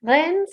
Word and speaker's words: Rennes: I just learned how to pronounce it. Rennes School of Business in the city of Rennes, Paris, and also a private universities.